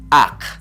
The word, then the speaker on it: aq: Se dice ak. Así como ustedes lo oyen. Ak.